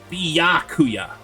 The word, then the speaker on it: Byakuya: The ya is the only stressable syllable. Byakuya. Okay. Byakuya.